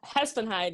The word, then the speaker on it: Hespenheide: Hespenheide, yeah.